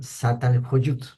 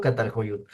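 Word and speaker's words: Çatalhöyük: biopolítica en catal kyut se se pronunciará satal jut satal kyut la la s tiene un una colita abajo que es la z una especie de Z de doble s no satal hoy algo así o catal lo que yo lo pronuncio catal hoy así 6500 antes de Cristo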